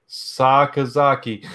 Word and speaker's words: Sakazaki: I'm gonna say it right, Sakazaki.